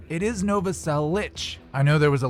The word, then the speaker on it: Novoselic: of christ's last name whether it's nova cell lick or nova cell lich it is nova cell lich i know there was